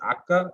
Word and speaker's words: Akka: is because the uh old akka is the way arabic people pronounce it and akko is the